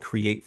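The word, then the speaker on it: Cre8: And uh the cool thing about it is that create the way that it's spelled with the eight the eight represents the eight pillars that make you the best version of yourself.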